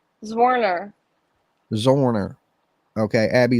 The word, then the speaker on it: Zwerner: say her last name zwerner zorner okay Abby zorner as you see Warner with a z in front of it zorner okay yeah Abby's a